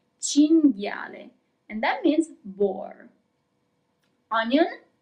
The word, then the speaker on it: cinghiale: Cinghiale. Here we also have the group that we have already seen, G-H-I, G. Cinghiale.